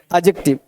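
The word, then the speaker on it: adjective: एडजेक्टिव का जो sound होता है वो होता है एडजेक्टिव, एड डी नहीं पढ़ते हैं, डी नहीं पढ़ते, क्या पढ़ोगे, एडजेक्टिव, डी होता है साइलेंट, तो क्या पढ़ोगे, एडजेक्टिव।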